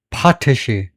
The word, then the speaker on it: potash: 그럴 때에는에 재면 아이로 갈 수도 있지만 여기서에 발음은 파테시 파테시 아 페액센트가 있네요.